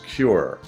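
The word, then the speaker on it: KUR: K U R pronounced as cure.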